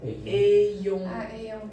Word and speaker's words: ayons: Mais juste je vous rappelle que A Y vous le pensez comme A I I. Le A I c'est déjà e. Donc comment on prononce ? Ayons ayons été surchargé.